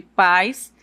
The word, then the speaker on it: pais: No momento de você pronunciar a sílaba, você vai perceber que aqui no caso de pais, a sílaba tônica é pá e na palavra país é no a sílaba mais forte.